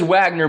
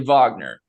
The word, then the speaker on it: Wagner: It says Wagner, but it's actually Wagner.